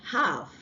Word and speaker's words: half: because if you say half you're pronouncing the L and L has to be silence for you to have the right pronunciation okay so we have